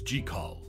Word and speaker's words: Jekyll: Hyde stands out as the only version where jaal's name is pronounced correctly as jall this small detail adds